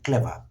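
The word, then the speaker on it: clever: sound করতে চাই ক্লিয়ার এন্ড ক্লিয়ারলি similarly ক্লেভার ক্লেভার শব্দটিকে আমরা যদি আর সহ উচ্চারণ করি দেন উইল সাউন্ড আমেরিকান আর যদি আর বাদ দিয়ে করি ক্লেভার সো এই বিষয়টি চাইলে আমরা মেনে চলতে পারি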